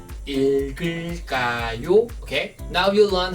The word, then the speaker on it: 읽을까요: When 2 prop consonants at the bottom before 이응, the last prop consonant moves to the next syllable because 이응 is silent, zero sound. So you should read as 읽을까요?